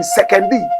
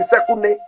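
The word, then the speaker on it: Sekondi: Today, if you live in Axim, if you live in Sekendi, correct pronunciation, Sekune, and you drink pipe-borne water, be thankful to George Afreekan.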